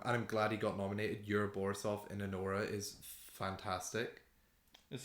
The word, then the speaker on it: Yura Borisov: Do you want me to tell you how to pronounce his name? Is it Yura Borisov?